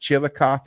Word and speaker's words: Chillicothe: talk talking up this Brewer at is it pronounced Chillicothe because I'm new to the yeah Chillicothe Chillicothe